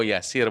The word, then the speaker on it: Yasir: untuk mendapatkan kehidupan yang mudah Armin Bapak Ibu ejaan Yasir itu adalah ymki alfasera India Eko Romeo Yasir Bapak Ibu Mohon untuk tidak salah Memanggil nama